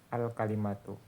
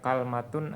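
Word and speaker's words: كلمة: Yang paling fasih bacanya alkalimatu. Waajuzu fiha fathul kaf. Boleh juga kafnya di fathah wa kasruha dan kafnya di kasrah. Maa sukunil lam fihima. Kemudian lamnya disukunkan. Jadi bacanya kalmatun atau kilmatun. Dan ini dialeknya bani tamim ya. Bani tamim dialeknya seperti itu. Kalau hijaz yang lebih fasih lamnya dikasrahkan.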